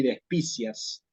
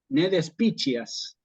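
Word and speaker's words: despicias: demostrando En todo caso a quien se le escapa esa pronunciación que se está olvidando la regla de la pronunciación de la c con la i que es justamente como una chi Sí despiches sí lo que nosotros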